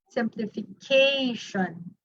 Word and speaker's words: simplification: This is where the proper stress lies. The fourth syllable, simplification.